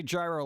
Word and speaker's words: gyro: I think they're pronounced Euro yeah I know I just say gyro like gyroscope because I'm I'm a